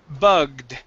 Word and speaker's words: bugged: Next is bugged. Instead of bugged, it's bugged. Bug. Okay, give me a D sound at the end.